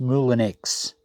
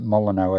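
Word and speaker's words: Moulinex: I've circled the uh now it's pronounced Mulan X I pronounced it moleno I think before so the mulinex coffee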